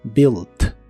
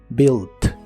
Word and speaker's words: built: el pasado es built tampoco se pronuncia la u de esta palabra solo que en esta forma en lugar de terminar con d termina con t built built en el pasado la